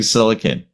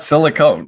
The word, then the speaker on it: silicon: many ways of pronouncing silicon silicone or silicon not silicone silicone is something different is something very very different yes yes that's absolutely